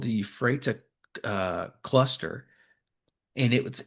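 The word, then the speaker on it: Ephrata: I uh you I'm see if I can get this right. Euphrata? I think it's how they say it. It's called the Euphrata uh cluster.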